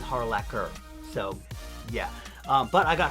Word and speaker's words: Harlacher: her name wrong before her name is erica harlacher with a hard k sound um yeah i used to think it was harlacher because i had spelt but hmk youtuber who does kingdom hearts and zelda stuff uh he actually had her on as a guest and she pronounced it for him to make sure that it was correct and it is harlaquer so yeah but i